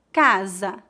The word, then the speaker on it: casa: Entre duas vogais, o S tem som de Z. Veja alguns exemplos. Casa, rosa, Brasil.